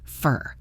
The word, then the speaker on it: for: Here, for is unstressed, so it becomes fur.